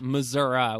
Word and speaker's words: Missouri: It's Missouri, which is how you say it, right?